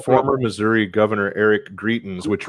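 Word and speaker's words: Greitens: former missouri governor eric greetings which right there we go i couldn't i'm like as as assistant rhymes with cretins yeah uh today we're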